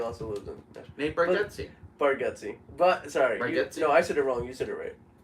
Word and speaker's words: Bargatze: Well, Nate Bargatze also lives in Nashville. Nate Bargatze.